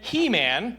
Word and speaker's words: Heman: "And He-Man," which I think it's pronounced Heman, but it's really just fun to say He-Man when you're preaching.